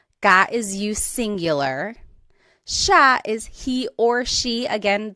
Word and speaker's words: siya: And again, just to point out the pronunciation, it looks like it should be pronounced siya, but it's usually pronounced siya, siya.